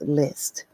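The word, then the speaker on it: LLST: according to my spelling it's my LL St LL St pronounced list I will be back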